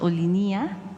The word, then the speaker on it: Olinia: equipo revisara la pronunciación ellos afirman que la pronunciación es olinia o sea Ajá ol